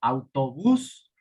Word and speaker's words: autobús: Ejemplo, autobús. Última sílaba lleva la fuerza.